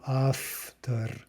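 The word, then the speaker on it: автор: the word for author we have a and a t and we pronounce that after after right because the is devoicing to become more like the devoiced or unvoiced consonant after Okay so let's just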